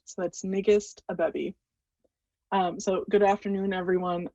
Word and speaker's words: Ngiste: It's Nigist, rhymes with biggest, so that's Nigist Abebi.